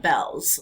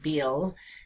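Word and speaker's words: Beall: um there came about this platform online called Bells list um even though it looks like it's pronounced Beal it's Jeff Bell um and he took it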